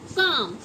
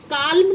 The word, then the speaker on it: calm: अब देखिए M वाला, जैसे हमने लिखा CALM, इसमें क्या है, L साइलेंट है, और हम इसको क्या बोलते हैं, काम, मतलब शांत रहना। तो काल्म नहीं बोलेंगे बच्चों, इसको